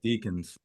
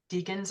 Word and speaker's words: decans: want to pronounce it I like to say deacons deacons okay it sounds like Deacon of a church right Deacon so yeah I